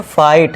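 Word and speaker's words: fight: फाइट। एफ आई फाई कर दिया। जी H silent है।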